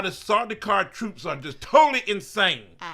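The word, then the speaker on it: Sardaukar: is the Sajika troops. It's Sardukar, whatever.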